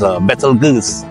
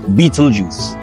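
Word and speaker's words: Betelgeuse: FYI for a lot of people the actual pronunciation is a BAL G or you know somewhat close to that pronunciation and not actually Beetle Juice as you know it's commonly now pronounced so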